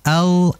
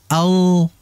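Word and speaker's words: ل: Ana Al dengan Al jadi ketika kita baca huruf alam itu Al lidah itu seperti Mekar ya yang mekar dia naikkan ke atas ke langit-langit Al Al Nah bukan Al Al kalau Al itu kalau saya perhatikan ee lidah enggak Mekar melainkan ujung lidah yang menempel Al Al Nah jadi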